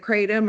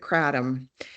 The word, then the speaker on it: kratom: Is it kratom or is it kratom? Both are acceptable. In the US, most people are using kratom, uh but kratom tends to be closer to the native pronunciation, and so it's also equally used as well.